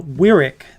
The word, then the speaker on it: Wyrick: guys so uh they guys pronounce it uh Wyrick this time nice Nate you actually said my last name right everybody else has it wrong I thought maybe at